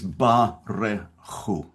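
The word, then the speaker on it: ברכו: The first word of this prayer is Barechu. Now that's three syllables.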